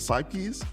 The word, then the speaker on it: Sypkes: and i am here with is it pronounced psyches yup from sanyu hi joe bye joe